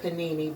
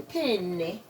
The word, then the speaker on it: penne: I said panini, but it's actually penne, as an Italian would say.